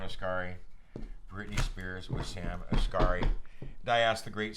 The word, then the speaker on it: Asghari: Asghari. Sam Asghari. Sam Asghari with Britney Spears, or Britney Spears with Sam Asghari. Britney Spears with Sam Asghari. Britney Spears with Sam Asghari.